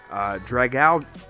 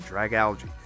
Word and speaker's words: Dragalge: Dragalge. That's how you say it, Dragalge.